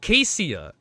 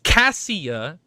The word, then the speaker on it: Cassia: OH, SO IT'S AH, SO IT'S NOT CASEIA, it's Cassia AND HER NICKNAME OH, IT JUST CLICKED.